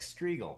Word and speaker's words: Striegel: I'm not like Striegel. Rhymes with eagle.